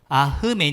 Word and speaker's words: 아멘: 의 기원과 의미 입니다 아멘 에 히브 10 발음은 아흐 맨 이에요 뭣 알아볼까요 아흐 맨